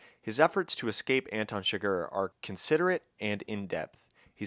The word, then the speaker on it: Chigurh: Anton Chigurh, right? That's how you say it.